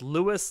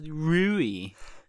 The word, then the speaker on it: Louis: rui three different ways now i've heard it pronounced louis louie and rui it is we are only going to go by the official japanese dub and it's pronounced rui i just want